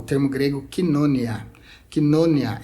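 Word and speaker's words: κοινωνία: Koinonia é a pronúncia para o termo que a gente conhece como koinonia, né?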